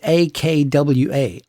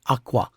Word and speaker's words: akwa: If the first syllable is high and the second syllable is low, akwa, the word means cloth. But if you reverse the pitches, low in the first syllable and high in the second, akwa, the exact same word suddenly now means egg.